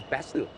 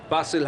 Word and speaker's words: Basil: player impressed in Oman basil Hamid I I thought it was Bastille b-a-sil well I mean proper nouns can you pronounce anyway yeah but generally in Sri Lanka we would pronounce bsyl Bastille but then I was